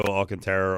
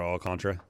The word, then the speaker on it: Alcantara: You could go Alcantara or Alcantara. Okay. It's not the second one.